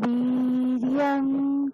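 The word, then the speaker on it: वीर्यं: ভি দীর্ঘ আছে না, আপনাকে দীর্ঘ উচ্চারণ করতে হবে। আচ্ছা। সাহাবীরিয়াম করবাবহৈ। সহ বীর্যং করবাবহৈ।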